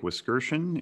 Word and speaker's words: Wiskerchen: Wiskerchen is how you pronounce that last name.